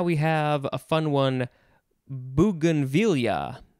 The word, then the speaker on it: bougainvillea: have a fun one bougainvillea bougainvillea or bougainvillea or bogan v via bougainville b-o-u-g-a-i-n-v-i-l-l-e-a you could